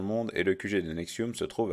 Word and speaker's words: NXIVM: Donc ça s'écrit N-X-I-V-M, tout en majuscule, et ça se prononce Nexium.